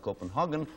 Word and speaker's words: Copenhagen: It is a port and, of course, the capital of Denmark, and pronounced Copenhagen or Hagen, depending on your national persuasion, I suppose.